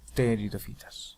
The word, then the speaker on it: pteridofitas: Recuerden la pronunciación, ¿no? Las pteridofitas. No pronuncio la P.